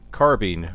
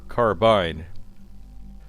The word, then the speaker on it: carbine: cry out for mercy so how do you pronounce carbine or carbine well recently we posted a video about the